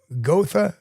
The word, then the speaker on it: Gotha: And his sighting is we were driving through Gotha State Forest. Now, I don't know if they pronounce that Gotha in Florida, but the German pronunciation is Gotha.